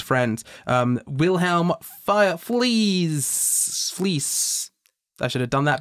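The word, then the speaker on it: Fliess: Fleece. I should have done that better. How do you spell that?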